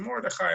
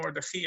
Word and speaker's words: Mordechai: The Mordechai, or the Mordechi, or the Modcha, however you want to pronounce it, Mordechai and Mordechi are the two normal ways of describing it.